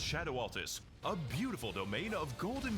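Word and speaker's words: Scadu Altus: It's pronounced shadow altus.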